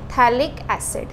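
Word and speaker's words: phthalic: है हमने स्टार्ट किया थैलिक्स इड के साथ ये हमारे पास यहां पे क्या है थैलिक्स p साइलेंट रहता है इसमें है ना थैलिक्स इड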